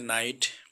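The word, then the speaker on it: knight: তারপরে দ্বিতীয়টি দেয়া আছে নাইট, কে এর উচ্চারণ হয়নি।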